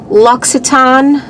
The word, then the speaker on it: Louis Vuitton: finally learned how to pronounce this this is pronounced luiton hand cream uh this is either a sample